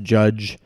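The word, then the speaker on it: Jydge: what I thought was called judge JY DGE apparently still pronounced judge I don't get it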